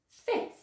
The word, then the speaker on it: fifth: Okay, so you'll notice that that F sound is completely silent, the one in the middle, not the first one.